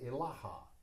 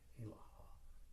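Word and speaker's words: إله: At the end of the motion, while at the crown center, say Ilaha. Do not say Ilaha strongly. The strength or accent is on La, thusly. La.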